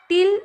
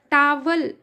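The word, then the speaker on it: towel: एपॉस्टोफी एस का meaning होगा का की के डोंकी के टिल यानी कि पूंछ हम यहां पर स्पेलिंग है उसके हिसाब से इसका प्रोनाउंसिएशन आएगा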